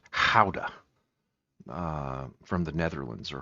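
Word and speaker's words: Gouda: And to me it seems like almost a in between between uh cheddar and guda uh properly pronounced howa uh from the Netherlands or Holland.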